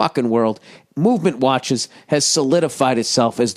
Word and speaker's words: MVMT: more to go oh mvmt movement watches pronounced movement was founded on the